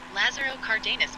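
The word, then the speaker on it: Lázaro Cárdenas: can you tell us about lazero Cardenas Mexico pronounced it correctly four Lazaro Cardenas Mexico Lazaro Cardenas can refer to two different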